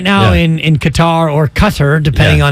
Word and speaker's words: Qatar: just like you well it's Qatar or Cutter which is it it depends on where you're from quite frankly and this